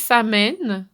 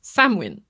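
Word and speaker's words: Samhain: fêté le samwiin moi il y a des gens qui disent Sam mè mais phonétiquement bon bref il y a toutes sortes de toutes sortes de de façons de le prononcer moi je le prononce samwin alors voilà je vous l'annonce ceux qui ont les oreilles qui frisent là ben je suis désolée mais moi je dis j'ai toujours dit samwin alors le samwiin c'est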